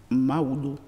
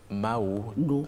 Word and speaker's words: Maoudo: Aujourd'hui, nous allons parler du prénom Maoudo. Mao Do. Do, Mao Do. Maoudo. C'est le diminutif de Maouedo, si c'est un Mao prénom.